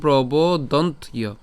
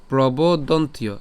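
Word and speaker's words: প্রবদন্ত্য: এবার এখানে যে জফলা আছে, আমরা জানি যে জফলার উচ্চারণ কার মতো হয়? ইয়র মতো হয়।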